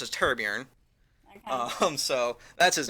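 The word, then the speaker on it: Torbjörn: His name's Torbjorn, but the way it's pronounced is Turborn.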